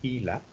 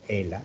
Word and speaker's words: HeLa: Las células HeLa, H-E-L-A, lo pronuncié más o menos en inglés, o ELA, pues en español, derivan de una mujer que supuestamente se llamaba Helen Larson, aunque no es el nombre correcto.